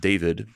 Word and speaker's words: D4VD: So anyway, that's D4VD, which I think is pronounced David.